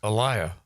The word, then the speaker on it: Eliah: Eliah, right? As opposed to Eli. As opposed to Eli. Elia as opposed to Elijah. Eliah. Yeah. There's no J and there's no A.